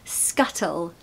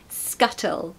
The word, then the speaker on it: scuttle: Pronunciation tip, really pronounce those T's, okay? We have a really strong T in the British accent. Not in every word, but especially when there's a double T, okay? So scuttle, scuttle.